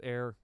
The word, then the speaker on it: Ae: Ae. It's pronounced Air.